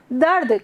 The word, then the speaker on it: दर्द: जब हम र को बहुत जल्दी बोलते हैं तो उसको इस तरह से लिखते हैं। जब र का उच्चारण हमको बहुत जल्दी करना होता है तो वो र नीचे न लग करके ऊपर चला जाता है हमारा।